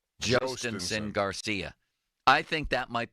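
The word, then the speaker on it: Jhostynxon: His first name is pronounced Jostinson. Jostinson Garcia.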